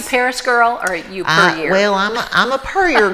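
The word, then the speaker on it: Pierre: So it's per year. Per year. Not per year.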